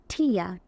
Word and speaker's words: tear: আমরা কান্না করলে কি চোখের পানি আসে, তাহলে চোখের পানি যখন তখন ঠিয়া, ঠিয়া, ইয়া। আর যখন বোঝাচ্ছে ভার্ব হিসেবে ছিঁড়ে ফেলা তখন ঠেয়া, ঠেয়া, এয়া, এয়া, ইয়া, এয়া।